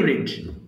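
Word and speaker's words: read: পড়েছিলাম আই রিড newspaper okay I রেড বলবেন আর ই ডি উচ্চারণ হবে তখন আই রেড নিউজপেপার আবার বলেন তো আই আই রিড newspaper I রেড newspaper রেড colour আছে আই রেড নিউজপেপার আবার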